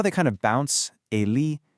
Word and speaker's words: Ele: In Brazilian Portuguese, these become Ele, Eme, Ene, and Ese. Go ahead, try practicing that out loud right where you are. Feel how they kind of bounce. Ele, Eme, Ene, Ese.